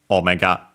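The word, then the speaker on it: オメガ: Omega accent on the first syllable. So high, low, low.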